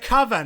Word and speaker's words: coven: The coven, because it rhymes with oven.